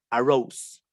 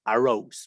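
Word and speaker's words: arose: este por una o ahora dices aros en el correcta pronunciación arrows vale como si dijeras arroz pero en gringo arrows vale y por ejemplo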